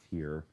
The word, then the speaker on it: TYR: At that time, TYR, which is tier, is how it's pronounced.